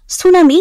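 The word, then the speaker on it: tsunami: এনই ইউস নিয়াস মিসানিয়াস সুনামি এটা বহুবার এসেছে টি এস ইউ এন এম আই টি এস ইউ এন এম আই টি এস ইউ এন এ এম আই এখানে টির উচ্চারণটা উজ্য থাকে এ নেম রংলি অর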